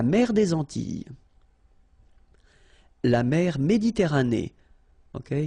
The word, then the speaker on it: Méditerranée: La mer Méditerranée, okay? Here final not pronounced, but then you pronounce this E at the end.